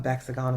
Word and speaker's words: Vexagon: Um Vexagon rhymes with hexagon.